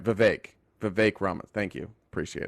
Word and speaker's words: Vivek: how to pronounce uh it's like the third option over vague oh that's right Vivek Vivek ramas thank you